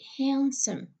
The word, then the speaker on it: handsome: See, the sound de is not pronounced. We say handsome.